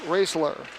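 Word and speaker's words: Roesler: R-O-E-S-L-E-R, pronounced Raisler.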